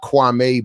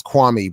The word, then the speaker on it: Kwame: Kwame. And he was making it, and apparently Stephen A. Smith has been intentionally saying Kwame and not Kwame, which is how his mother wanted it to be pronounced.